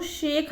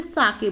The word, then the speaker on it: sake: बोला, I wish I हैड अ कप ऑफ साके, कि काश मेरे पास क्या होता, शाके होता। शाके यहाँ पे इस ये जो SAKE लिखा है वो शेक हम इसे नहीं बोलेंगे, बल्कि हम इसे साके बोलेंगे।